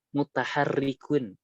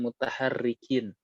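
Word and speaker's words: مُتَحَرِّكٌ: Kenapa mutaharrikun? Enggak mutaharrikin. Rofin mutahatikun. Ini karena kemarin karena ada ya apa udah sering dengar jadi ikut-ikutan aja Ustaz. Rofin, Tapi benar. Rofin. Jadi eh, bacanya sudah benar ya. Jadi ini kenapa mutaharrikun? Ada yang bisa jawab? Kenapa enggak mutaharrikin, kan enaknya dhamir raf'in mutaharrikin gitu. Iya. Karena mutaharrik adalah ma'at atau sifat dari dhamir.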